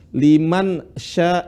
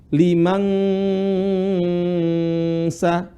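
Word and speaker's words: لمن شاء: Kesalahan orang baca apa? Liman sa. Dia mirip seperti ang, bukan ang. Tapi yang benar liman sya.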